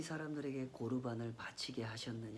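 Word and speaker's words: קָרְבָּן: 아니고 만남이 본질이란 말입니다 히브리어로 이 재물을 고루 반 코르 반 이렇게 발음을 하는데요 고루 반 이라고 하는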